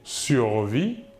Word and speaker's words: survit: de la même manière le S et le t final de la terminaison ne se prononce pas mais s'écriv enfin pour